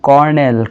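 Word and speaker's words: colonel: কলো Seoul কলোয়াল কলোনেল কিন্তু এটাকে আমরা উচ্চারণ করব কি কর্নেল কর্নেল কর্নেলকে স্পেলিং করতে হয়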